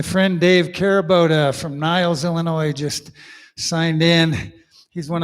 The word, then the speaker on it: Illinois: motto of illinois is please don't pronounce the s by the way i